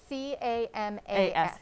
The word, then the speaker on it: camas: Camas root.